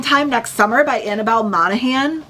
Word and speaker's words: Monaghan: I also grabbed Same Time Next Summer by Annabelle Monaghan. I've heard that you don't pronounce the G.